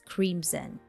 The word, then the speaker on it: crimson: describe a sunset as crimson and pay attention to the pronunciation because I heard this word being pronounced incorrectly with s sound but actually the correct pronunciation is with the z sound Crimson another color chartreuse